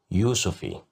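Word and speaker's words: يوسفي: Yusufi, Yusufi, Yusufi, which means tangerine. Here we have the letter ya controlled by dhamma, so that's why we pronounced it as you, Yusufi.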